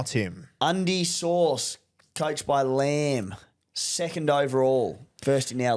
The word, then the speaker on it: Lamb: Undies sauce, coached by Lamb. Second overall, first in our league. Yeah, nice. Well done, mate. Unreal to see. L A M L A M with a silent B.